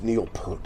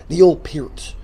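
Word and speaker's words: Peart: I mean Lee and Pier, it is Pier by the way. I remember watching interview with him years ago and people always say my name's Neil Per. Neil Per. It's not per it's P. Neil Pier.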